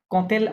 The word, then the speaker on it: quitter: কুইট, কুইতে কুইট না, ওটা কিত, Yuta silent আছে, হ্যাঁ, QUITTER, ইউটা সাইলেন্ট, কিত, উচ্চারণ হবে কিত।